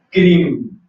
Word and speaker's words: Krim: Y ver entonces cómo lo atraviesa al momento que nosotros podemos pronunciar el mantra Krim, con K, así. Anótelo. Krim, K-R-I-M, K-R-I-M. Entonces ese es un proceso de eliminación hasta un punto.